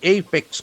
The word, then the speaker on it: apex: Imple in vaf amendment act case in apex court. A P E X. So that is a very important noun. Apex. The letter A has an A sound.